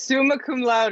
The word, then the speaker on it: summa cum laude: how to pronounce it, but I think it's summa cum laude. So that was also cool, I guess. So now to go back. It's summa cum laude, and it means with highest honors, my friend.